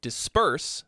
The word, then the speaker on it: disperse: but it's a you if you were to say that word disperse the stress is on the second syllable and you did something